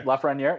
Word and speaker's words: Lafreniere: Am I saying it right, by the way, Lafreniere? Yep, Okay. Lafreniere, yep.